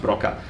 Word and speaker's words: Broca: And Wernicke should really be pronounced Wernicke, and Broca should be really pronounced Broca.